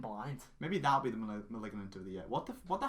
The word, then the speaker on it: Malignant: Maybe that'll be the Malignant of the year. What the hell? How do you pronounce that film's name? Malignant. It's like Maleficent.